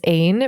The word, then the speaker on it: Ain: My name is Ain, pronounced like rain.